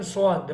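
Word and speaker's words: صاد: Scene and स्वाद, the pronunciation are is same, but scene is light and स्वाद is heavy, so you have to read heavy.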